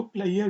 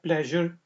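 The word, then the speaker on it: pleasure: और कुछ लोग इसको प्लेयर भी प्रोनाउंस करते हैं। प्लेयर भी ठीक है। ठीक है जी। और प्लेजर भी ठीक है। ये सिर्फ आप ये समझ लें कि यूके की इंग्लिश और अमेरिका की इंग्लिश का फर्क है।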